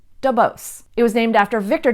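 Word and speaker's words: Duboce: familiar with English names you'll probably want to pronounce it de bois C but here in San Francisco we pronounce it DuBose it was named after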